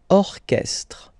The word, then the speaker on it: orchestre: And then, diriger, diriger un orchestre. Orchestre. Okay, so exception here, CH is not pronounced SH like usual, but K, orchestre.